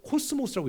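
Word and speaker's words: κόσμος: 있어요 여기서 세상이란 말이이 헬라어로 코스모스라고 읽거든요 여러분 어디서 많이 그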